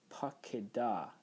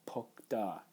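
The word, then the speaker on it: פָּקְדָה: And that's important for us because that's telling us you pronounce this pakeda, not pokda.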